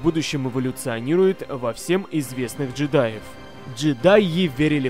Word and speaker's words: джедаев: В отличие от джедаев, или лучше сказать, джедаев, ударение на первый слог эпохи войны клонов, стеснявшихся